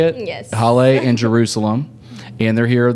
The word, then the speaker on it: Haile: We've got Haile, is that how you say it? Yes. Haile and Jerusalem.